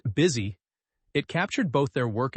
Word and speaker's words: BSY: The ticker choice was quintessentially Bentley. Pronounced busy.